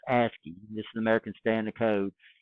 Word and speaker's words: ASCII: So ASCII, this is pronounced ASCII.